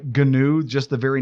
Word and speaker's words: GNU: I'll let you do your own internet search on why GNOME is pronounced GNOME and why GNU is pronounced GNU. It has to do with nerd humor and recursive acronyms, and I'll leave it